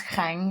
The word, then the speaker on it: Khanh: So my name is Khanh. Everyone struggle with this pronunciation because it's just throat clearing, coughing situation.